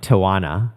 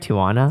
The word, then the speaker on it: Tijuana: We ended up like, they asked us to join them in like Tijuana. Yeah. Did I pronounce that right? Tijuana? Tijuana.